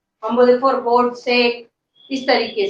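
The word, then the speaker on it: sake: लेकिन जब एज a Japanese drink अगर हम इसको यूज कर रहे हैं तो इसका मीनिंग है हमारा जैपनीज ड्रिंक, इसका प्रोनाउंसिएशन होगी साके, ठीक है।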